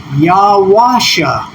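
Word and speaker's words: יהושע: So if we put the vowels, this is the transliteration. If we put the vowels there, and what we have is Yawasha.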